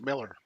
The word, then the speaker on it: Millar: Is it Millar or Miller? I think it's Miller. Mark Miller.